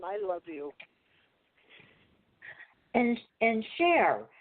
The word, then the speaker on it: Share: be here one time you pronounce my name share and that's what I do with my work it's a share oh sorry okay I